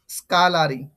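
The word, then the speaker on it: scullery: স্কালারি, স্কালারি, এটা প্রনাউন্সিয়েশন এটা হবে, হ্যাঁ, স্কালারি, স্কালারি, হ্যাঁ।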